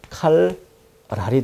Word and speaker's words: 칼날: 어법으로 접근해 보도록 하겠습니다 칼날이 발음이 어떻게 되나요 칼 랄이 되겠죠 자음과 자음이 만났는데 뒤에 자음이 앞에 자음 때문에 리을로 바뀌었다 이렇게 그래서 순행 동화가 일어난 자음